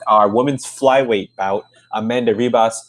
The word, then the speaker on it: Ribas: women's flyweight bout amanda ribas hibas you know pronouncing uh portuguese versus paige van zandt